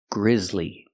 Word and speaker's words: grisly: Grizzly but Grizzly Lee the second syllable is the long e like green beans Le together Grizzly it was a Grizzly